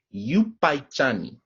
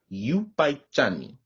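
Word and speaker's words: yupaychani: next word i have for you all is you paichani this means thank you in kichwa so that's yupaichani y u p a y c h a n i you by johnny as well as in spanish many of you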